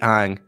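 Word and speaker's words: Aang: little avatar uh yeah i want to be ang just kidding that's how they pronounce in the movie is the real pronunciation i remember how that me up when they called him ong in the movie oh suggest a team name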